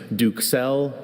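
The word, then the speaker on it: duxelles: I have a few pronunciations. Duxelle, Duxelle, Duxelle, Duxelle, Duxelle.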